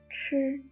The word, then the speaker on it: ch: The fourth one is ch, ch. Combine s with h is ch. Ch is pronounced the same as ch in church.